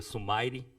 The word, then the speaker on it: Sumire: O nome dela, na verdade, em japonês é Sumire, só que a gente tentou dar uma pronúncia um pouco mais agradável em inglês, que não seja Sumire, né? Então a gente decidiu por Sumire.